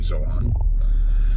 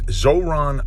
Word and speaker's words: Zohran: Actually, I've been mispronouncing his name incorrectly, so I think that's always disrespectful, so I'm not one of those people. His name is Zohran. I was saying Zohran.